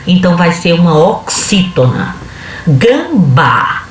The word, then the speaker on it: gambá: Gambá. Gambá, se você olhar de trás para frente, a primeira sílaba de trás para frente vai ser a mais forte, que é o bá.